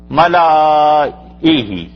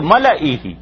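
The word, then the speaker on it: ملئه: نہیں پڑھیں گے، اور اگر الف پڑھتے تو پھر تلفظ مختلف ہو جاتا، ملائہ آ بھی آ جاتا ہے نا، اگر لام کے بعد الف بھی پڑھتے، ملائہ، اور اب جو پڑھتے ہیں تو ملئہ، تو الف کو ساکن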